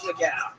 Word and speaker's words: McGough: Danny McGough? How do you say that? It's McGow.